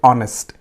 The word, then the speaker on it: honest: n here why because h is silent here we are not pronouncing it okay we skip it we say honest so the article used